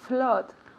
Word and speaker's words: flood: To flood. Good. Repeat. To flood. To flood. To flood. Muy bien. So here it's written with O, con doble O, pero se pronuncia como si fuera una A.